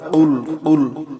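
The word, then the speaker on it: قُلْ: কুল কুল গলার ভিতরে কুলহু আল্লাহু আহাদ।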